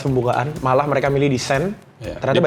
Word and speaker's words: Seine: Bacanya Sen guys katanya. Saya nyebutnya Seine kemarin disalahin katanya. Sen.